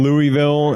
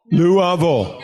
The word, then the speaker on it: Louisville: yeah one day Norville Louisville Louisville Louisville yeah hey I think outta respect you should try to pronounce that the way to people from that place to Louisville what do you think